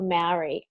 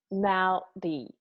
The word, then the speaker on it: Māori: Roll the R, make it sound like a D. Maori.